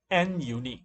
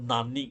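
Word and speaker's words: nunique: handers in the statistical calculation category that's called n unique it's not nominee or whatever don't don't pronounce it uh it's n just tries to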